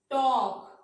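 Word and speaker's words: talk: 3 letters आते हैं इनसे पहले एल आ जाता है तो क्या है, एल साइलेंट हो जाएगा। काफ, एल साइलेंट हो गया। Half, वॉक, Fock, टॉक, palm, काम, बाम।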